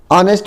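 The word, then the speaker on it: honest: दूसरा हो जाएगा आपका ऑनेस्ट, ऑनेस्ट मतलब होता है ईमानदार, जिसमें आपका एच साइलेंट है।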